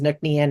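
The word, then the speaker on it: Ncnean: And the long spelling of it is looks very Celtic, but the way you pronounce it is Nuclean.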